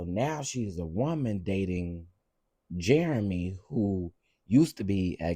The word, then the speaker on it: Jerome: Oh, it's pronounced Jeremy.